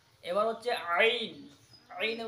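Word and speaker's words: ع: জা জা এ হচ্ছে জয় উচ্চারণ এবার হচ্ছে আইন আইনের উচ্চারণ আইন আইন কোথা থেকে উচ্চারণ হবে হলকের মাঝ বরাবর মাঝের থেকে অর্থাৎ এই যে বলা যে হলক এই হলকের মাঝের অংশ থেকে কি আদায় হবে আইন উচ্চারণ হবে মাঝের অংশ কি উচ্চারণ হবে আইন আইন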